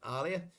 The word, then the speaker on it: Aaliyah: Aaliyah, we're going to say it correctly now. Aaliyah, not Aaliyah.